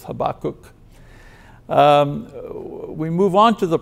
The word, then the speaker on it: Habakkuk: I've checked different pronunciations, you know, so I'm going to stick with Habakkuk.